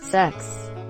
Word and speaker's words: CeX: bathroom camera 3 unprotected cex at a used electronics games retailer whose name is pronounced as sex hide yo kids hide